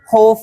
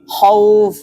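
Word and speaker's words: خوف: Contohnya khauf. Kha-nya fathah, wawnya sukun. Maka dibacanya bukan khuf ataupun khif ya. Namun khauf.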